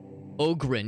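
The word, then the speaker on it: Ogryn: much more fun to call that ogin yeah Ogen is probably the more appropriate and correct pronunciation yeah dark Tide's fun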